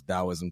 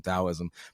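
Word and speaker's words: Taoism: The tow of comedy as we would say, but you pronounce Dowoism, Towism. But one of her biggest inspirations is Alan Watts.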